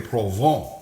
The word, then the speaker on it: Provence: Anyway, it looks like Provence, but I think it's French, so it's pronounced Provence. Anyway, you always sound fancy when you speak in foreign languages when you're cooking, all right?